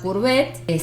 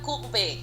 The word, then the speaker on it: Courbet: Sí, Gustave Courbet. Las T y las S no se pronuncian. Bien, Cada vez que las pronuncio me tiran un cachetazo. Okay, pero Courbet. Courbet para los paisanos.